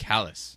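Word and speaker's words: Caelus: Callus. That's how you pronounce it.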